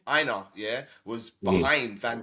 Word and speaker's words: Aina: Aina, yeah, was Mhm.